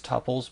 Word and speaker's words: tuple: Now I want to talk about tupils for a moment. Uh some people call these tpples. Both pronunciations are correct but tupless is the preferred.